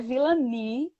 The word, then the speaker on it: Vilani: Vilani. Meu nome gera muita polêmica, é Vilani. É Vilani? É Vilani. Muito chique.